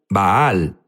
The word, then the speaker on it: Baal: Jesús habló sobre Val unos dicen baal baal es la pronunciación correcta correcto pero sabes qué es